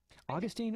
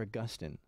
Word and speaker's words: Augustine: rest in you go Augustine or Agustin it's interesting I and I never knew this growing up but there's a Catholic way to pronounce st. Augustine in a Protestant way to pronounce st. Augustine did you know that I didn't know